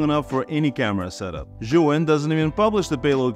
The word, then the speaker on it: Zhiyun: Zhiyun.